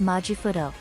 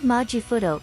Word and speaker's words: マジフト: The word majifuto comes from magical shift itself which, in katakana, the Japanese alphabet for foreign loanwords, is pronounced magical shift. To shorten it, the characters take the first and last two sounds and combine them into one word, majifuto.